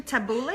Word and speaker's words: tabbouleh: And it's actually tabbouleh. I think that's how you pronounce it.